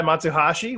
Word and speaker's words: Matsuhashi: today live via Zoom video conference uh matashi which I that is the right pronunciation right yes it is all right